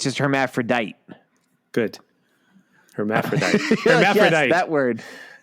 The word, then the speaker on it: hermaphrodite: you say that word hermaphrodite hermaphrodite I'm spelling Herrod correct literally it's it's Herm from Hermes on the front of Aphrodite but you you could say hermaphrodite that's the name of